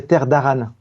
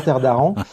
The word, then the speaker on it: Terres d'Arran: D'ailleurs, j'en profite pour te préciser que j'ai appris auprès des auteurs qu'on disait terre d'Aran. Ah, merci. Et pas terre d'Aran.